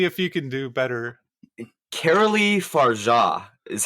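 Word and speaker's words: Coralie Fargeat: Caroli Farja is how you pronounce it.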